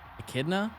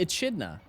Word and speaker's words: echidna: what what he is echidna what is Knuckles movie character that doesn't help me what what is Knuckles the Echidna echidna e-c-h-i-d-n-a right enchilada pronounce this k no ch next time I say